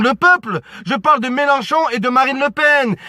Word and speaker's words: Mélenchon: Pour vous dire les amis, pour dire Mélenchon, ma mère elle prononce mal, voilà, qu'est-ce qu'elle dit les amis? Elle dit Ménichon, la vie de ma mère, elle l'appelle Ménichon, c'est une paire de